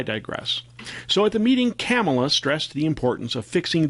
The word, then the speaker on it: Kamala: fox news co host called her camelot a leftist guest corrected them saying she pronounced it kamala so to me she